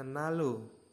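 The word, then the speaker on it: 난로: nomor tiga ada nanro tulisannya nanro dibacanya Nalo Nalo rinya menjadi l ya jadi l rinya menjadi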